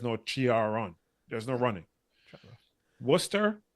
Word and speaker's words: Worcester: Worcester is Warcester.